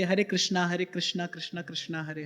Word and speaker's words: कृष्ण: कह रहे थे हरे कृष्णा हरे कृष्णा कृष्णा कृष्णा हरे हरे तो एक पंडित जी बैठे थे वहां पर उने क नहीं नहीं ये ठीक उच्चारण नहीं है कृष्णा नहीं है कृष्ण है आप हरे रामा हरे